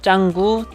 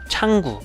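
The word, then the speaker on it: Canggu: 짱구 라고 부르 부 영어 스펠링 으로는 캉골 하고 익히는데 인도네시아에서 발음할 때는 짱구 창구 이런식으로 발음을 합니다 2 ps 빛의 클럽과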